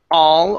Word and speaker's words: all: go to uh all open up your mouth just a little bit wider here instead of o o all all and make sure your tongue is reaching up to the top and touching the the top of your mouth here so uh getting